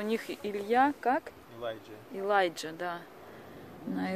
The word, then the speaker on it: Илья: А, мне ну, кажется, Илья уже, тоже, да? Наш сын Илья. Его тоже никогда не могли произносить. Алия они говорят.